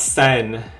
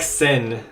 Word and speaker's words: Sen: So it's actually not Sen, although it's written Sen. It It's pronounced more like sin, like s i n.